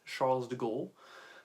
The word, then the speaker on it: Charles de Gaulle: Charles de Gaulle, for those who do not have the French pronunciation, that's Charles de Gaulle. I really can't say that without the French.